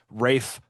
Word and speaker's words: Ralph: But that is that is like Rafe is the old English pronunciation of the name that later turned into the pronunciation of Ralph.